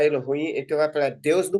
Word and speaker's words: Elohim: Tô ouvindo Tô ouvindo Elo ruim então a pronúncia Elo ruim então vai falar Deus no plural é se